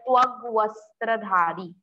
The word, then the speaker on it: त्वग्वस्त्रधारी: Then one more difficult word, twag vastradhari. Twag vastradhari. Twag vastradhari. Okay, vastra yani ki cloth, so same you have to pronounce here with twag vastradhari.